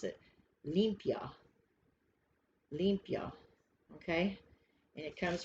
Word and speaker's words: limpia: say it if you're going to pronounce it pronounce it limpia olympia okay and it comes from mexico and